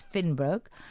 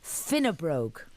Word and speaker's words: Finnebrogue: be completely free of nitrites the company is Finn Brook and their chairman Dennis Lynn joins me in